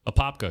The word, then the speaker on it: Apopka: I did my 21st birthday in I don't know if I'm pronouncing it right, Apopka, Florida. Apopka, yeah.